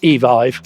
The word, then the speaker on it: Evive: Well, we do actually now know how to pronounce this company, which is Evive.